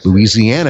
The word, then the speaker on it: Louisiana: Louisiana is just like I said it. Louisiana. It's not Louisiana. It's not Louisiana. It's Louisiana. It's New Orleans, Louisiana.